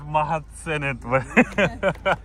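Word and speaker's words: mahadsanid: Mahatsenet.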